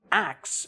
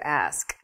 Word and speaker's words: ask: But when you say axe, it's just totally wrong. Well, it's reversing the consonants in the word ask.